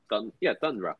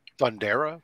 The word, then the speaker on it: Thundra: Thundra. Thundera? What? No, Thundra. Not this time. I'm actually saying it right.